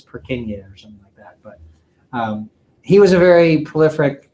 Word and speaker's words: Purkinje: and also I kind of think the name purkinje sounds kind of cool so I like saying it but actually that's not the way that you pronounce his name it's perk in years he was a very prolific anatomist so there